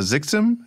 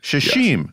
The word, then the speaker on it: Xixim: is it called cassa xixim is that how you say it uh shash shash got that completely wrong xes come out like sh's okay shash it's an